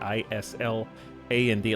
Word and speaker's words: island: looks like if you if you looked at the word Island i s l a n d it looks like Iceland like Island